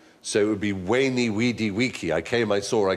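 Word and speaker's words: veni vidi vici: I was taught Latin we were taught to pronounce the v as a w so it would be wany weedy weaky I came I saw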